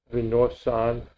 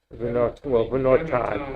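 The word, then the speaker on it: ונתן: But Vinosan. How you said that? Vinosan. Go with the T. Vinotan. Okay, Vinotan.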